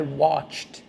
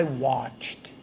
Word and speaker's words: watched: softly quicker watched but that d at the end needs to be heard it needs to be audible because that's how your